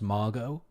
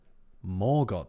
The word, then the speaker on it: Morgoth: Is Morgoth pronounced Margot? I think me articulating the question should give you the answer. Morgoth, though.